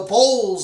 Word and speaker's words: bowels: It's in the bowels of man. The Bible calls it bowels, but say it like bowl, the bowels of man.